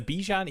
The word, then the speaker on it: Bijan: It's like Bijan. Bijan. Like rhymes with the Sean. Bijan, not Bijan. I think it's the Bijan.